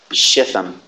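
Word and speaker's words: Shittim: There's no dagesh forte in the Tau. I think it's a soft pronunciation. Not a t, but a th. Shitham.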